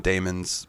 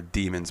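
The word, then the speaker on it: daemons: by a Damon or I call them Damons but they're demons but they're spelled like Damon I guess I don't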